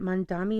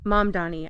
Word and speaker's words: Mamdani: We were talking about is it Mondami? Is that how you say his name? Mamdani.